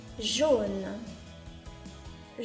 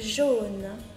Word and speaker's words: jaune: ジョーヌ、ジョーヌと発音します。